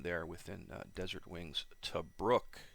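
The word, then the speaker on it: Tobruk: within uh desert wings to brooke yes i've pronounced it right the the one guy's from australia and he says it's to brook instead of tobrik which is how i've been pronouncing it so um good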